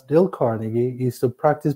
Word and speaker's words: Carnegie: It's pronounced Dale Carnegie.